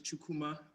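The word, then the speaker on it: Chukwuma: yes okay is it chokuma uh the proper pronunciation is chukuma since i'm in america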